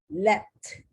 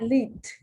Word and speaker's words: leapt: Leapt, not leaped, leapt.